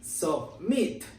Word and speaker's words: submit: Sin embargo, la pronunciación en el verbo en base form no es de I. La pronunciación de este verbo es submit. Es muy corta la pronunciación de esta vocal.